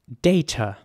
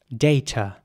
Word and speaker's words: data: British way of saying this would be data data and some might say data but I think most people in England or you know in Britain would say data and in American English it would be more like data so the a would be pronounced and the t is again very soft like in tomato data here's an example